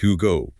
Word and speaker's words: Hugot: Pronounced Hugot.